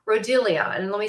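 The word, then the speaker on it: Rhodiola: and it's used in the world it's called rodelia and let me spell it for this r h o d i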